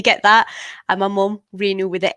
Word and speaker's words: Renu: to hear about being in the kitchen with Renu. And I hope I pronounced that correctly.